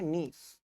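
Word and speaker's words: gneiss: ये स्पेलिंग ऐसी है लेकिन इसको बोलते क्या है? नीस हिंदी वाली स्पेलिंग भी लिख लेना।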